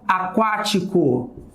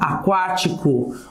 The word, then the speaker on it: aquático: Sim, olha lá, a palavra aquático. Olha lá, aquático. Eu tenho o Q aqui, porém, aqui eu tenho um U.